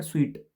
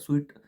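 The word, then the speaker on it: suite: तो ऑप्शन है villa, apartment, bungalow, और इसका प्रोनाउंसिएशन है स्वीट, SWEET। ये इसका प्रोनाउंसिएशन होता है स्वीट। सूट नहीं बोलेंगे, इसको स्वीट बोलेंगे।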